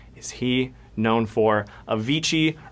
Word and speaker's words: Avicii: Avicii rhymes with Cervici.